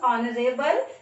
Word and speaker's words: honorable: Here, the word starting with a vowel sound, honorable.